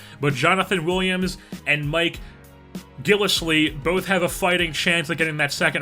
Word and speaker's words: Gillislee: rookie out of Arkansas and then Gillis Lee I believe how you say it is a former dolphin